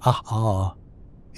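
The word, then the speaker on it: ʻaʻā: A pronounced ah a is rough, chunky and jagged.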